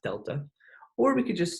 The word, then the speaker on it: delta: It's pronounced delta.